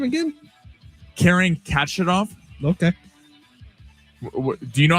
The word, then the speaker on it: Khachanov: Karen Khachanov. Okay. Do you know how to say it? No, I think you're right. Yeah, I'm about to say. Okay, it's like, excuse you.